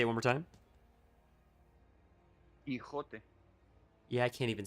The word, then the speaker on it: Don Quixote: So great treasures and stories in Spain will be their big written books, like Don Quixote. Is that how you say it?